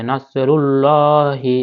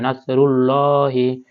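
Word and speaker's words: نَصْرُ اللَّهِ: মোটা করে পড়তে হবে নাসরুল্লাহি এখানে মোটা করে পড়তে হবে নাসরুল্লাহি ওয়াল ফাতা ফাতা ওয়াল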